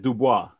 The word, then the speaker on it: Du Bois: So I want to welcome Brother Du Bois, or is it Dubois? How you pronounce it?